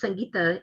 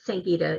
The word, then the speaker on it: Sangeeta: sangeeta means music and it's pronounced sangita in hindi but sangeeta is the americanized version of it so let's talk about